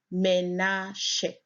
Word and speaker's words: Menashe: Menashe, pronounced Menashe.